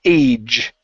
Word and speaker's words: age: Age. So, give me a J sound here.